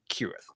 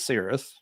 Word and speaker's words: Cirith: know by tolking in tolk's language it's meant to be kirth at the same time what you know Craig said is perfectly Fair the band pronounces it serth they can pronounce it